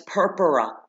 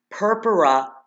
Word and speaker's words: purpura: sign of bleeding and then there's purpura purpura just like it sounds like the word purple they're like splotches purple